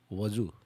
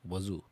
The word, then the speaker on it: Wazuh: So you can see how they pronunciated. Wazu. Okay. Wazu.